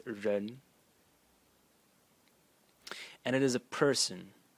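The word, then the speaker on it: 人: we have this element over here which is pronounced ren and it is a person person.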